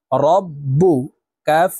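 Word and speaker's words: رَبُّكَ: হবে একবার পূর্বের হরকতের সঙ্গে আরেকবার নিজ হরকতের উচ্চারণ হবে রব্বু কাফ জবর কা রব্বুকা বা জের বি হামজাহ সদ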